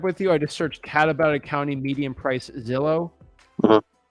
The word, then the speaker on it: Catawba: No, it's Catawba. Spell that for me, please.